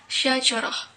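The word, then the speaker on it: شجرة: History comes from Arabic, namely from the word shajaratun, or pronounced shajarah, which means wooden tree.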